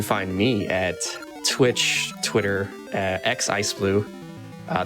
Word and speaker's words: xIceblue: me at twitch twitter x iceblue uh the x is silent um i do a